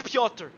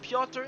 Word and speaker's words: Piotr: is in split 3, always writes me how to pronounce the names, and I should have known it, but it's Piotr. For this race, it's just Piotr.